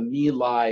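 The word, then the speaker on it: My Lai: for a time and it's called the meal I incident my LA I typically refer to in fact as the meal I Massacre in which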